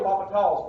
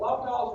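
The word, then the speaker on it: L'Hôpital: so that's where the lava talls world comes in named after the french mathematician um and so that's why it sounds french paul's rule so the h is silent and yes there is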